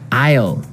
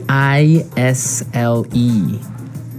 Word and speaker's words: aisle: spelled so strangely right we don't pronounce the S the S is silent it's true Isle so